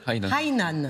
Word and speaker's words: Hainan: Bon, de toute façon, il y a une montée à Hainan très souvent. Ah oui, il faut dire Hainan, c'est ça.